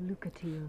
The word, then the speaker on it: Lucatiel: I'm called Lucatiel.